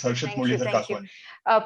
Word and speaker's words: Harshit Muralidhar Kakwani: You pronounced it the right way. It's Harshit Muralidhar Kakwani.